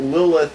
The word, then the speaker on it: Lilith: Is that how you pronounce her name? It's Lilith.